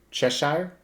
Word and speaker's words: Cheshire: on top of the chest sire how's it pronounced cheshire yeah you don't even know what it is